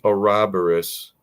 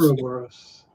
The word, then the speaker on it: Ouroboros: It is Ouroboros. Every other person I've heard has pronounced it Ouroboros.